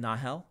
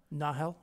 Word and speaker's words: Nahel: And how do you say, Nahel or Nile? Because I think I've heard both in the books. Yes. Or audiobooks. I've always said Nahel. Nahel. With just a bit of an H, like Nahel.